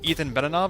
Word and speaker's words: Ethan Benanav: tuned today I'm honored to be speaking with Ethan banana of molten tomato developer of super happy fun